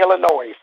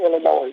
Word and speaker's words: Illinois: And you got to stop saying Illinois, please. It's not Illinois. It's Illinois. Right? No, it's not. No, the S is silent, man.